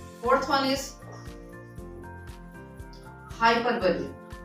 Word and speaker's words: hyperbole: Pronunciation को focus करिएगा, हाइपरबोली।